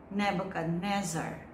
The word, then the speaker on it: Nebuchadnezzar: Nebuchadnezzar.